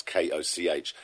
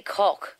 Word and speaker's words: Koch: 3 years ago, the Koch brothers, I think I pronounced them as, that's Koch, huge fossil... It's actually Koch.